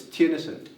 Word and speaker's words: Theunissen: It's Theunissen. Theunissen. Yeah. Theunissen. You say it like it's Tenisen, but it's spelled very complicated.